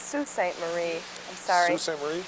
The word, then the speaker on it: Sault Ste. Marie: Sage Sue from Sault Ste. Marie, which was once Albion. You know where Sault Ste. Marie is? It's pronounced Sault Ste. Marie.